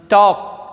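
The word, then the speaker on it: talk: टॉक, टाल्क नहीं बोलते हैं, इसको ध्यान रखना बच्चों, टाल्क नहीं बोलते हैं। The word is never pronounced as टाल्क, इट is pronounced as टॉक।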